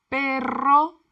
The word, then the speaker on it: perro: Perro, rr, perro, carro, carro, ratón, ratón. Ojo, the double R is pronounced with a rolled R, but some words